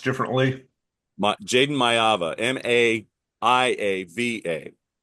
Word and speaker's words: Maiava: Pronounced differently? Jaden Maivia, Maiava, not Maivia.